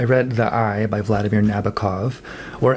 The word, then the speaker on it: Nabokov: the eye by Vladimir Nabokov or as I learned from some Russian-speaking friends Vladimir Nabokov. You emphasize the often Russian I guess you emphasize the second syllable or something.